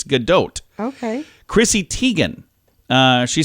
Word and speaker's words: Gadot: Israeli she's like no I'm not French it's Godot okay Chrissy Teigen uh she says it's tejan